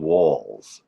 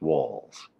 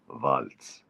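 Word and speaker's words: Walz: yes Waltz listen walls we got to call them walls that's how it's pronounced walls although in German you'd say VZ the Z is a is pronounced like a t vaultz hello Tim vultz will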